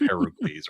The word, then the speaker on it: Heracles: Disney went with the Roman version of Hercules instead of Heracles or Heracles.